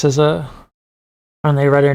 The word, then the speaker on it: SZA: technical first time ever listening to how they pronounce sizza and they write their name written yeah no if you go look at my first react it's hilarious I'm like sza I get a lot of people's names wrong